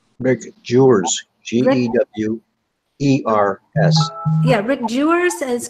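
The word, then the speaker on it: Gewers: Hopefully Mark is going to host, and we've got some Rick Jaggers is coming. Rick, did I say his name right, Dawn? Rick, what's his name? Rick Jewers, G-E-W-E-R-S.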